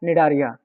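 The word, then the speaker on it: Cnidaria: निडारिया। Coral जो है निडारिया का है। ये सी से स्पेलिंग स्टार्ट होती है, डोंट बी कंफ्यूज।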